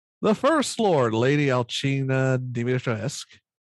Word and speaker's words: Dimitrescu: The First Lord, Lady Alcina Dimitrescu. That U is silent. It's Romanian.